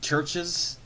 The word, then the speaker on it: CHVRCHES: But my favorite song this year that came out, probably Churches. That's spelled CHVRCHES.